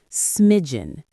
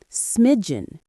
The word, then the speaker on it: smidgen: Smiden. Two syllables. The stress is on the first syllable. Smiden.